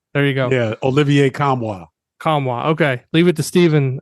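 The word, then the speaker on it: Nkamhoua: go leave no the I think the N is silent okay there you go yeah Olivier kamwa Kwa okay leave it to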